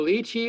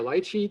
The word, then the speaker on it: lychee: and eaten like chestnuts here's the lychee or light sheet depending how you want to pronounce it it's from asia very